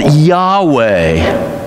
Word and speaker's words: Yahweh: am why age wh it's supposed to be yahweh i will be who i will be the